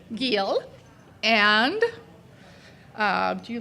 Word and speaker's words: Giel: Giel. Giel.